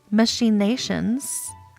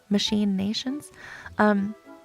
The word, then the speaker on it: machinations: Of course, you can't expect Cheshire Cat to have a pattern for his machinations other than stripes. It's spelled like machine and then nations, like put together. Machine nations.